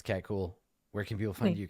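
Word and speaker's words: Kuhl: cat underscore cool underscore with cool spelled like my last name k u HL and also you can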